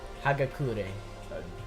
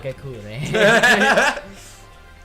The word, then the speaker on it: Hagakure: Hagakure. What? Hagakure.